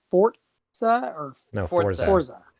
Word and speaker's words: Forza: Forza. Forza. Italian. Forza is an Italian word for, and it's pronounced in Italian, Forza, like Forza. But there's no T in there.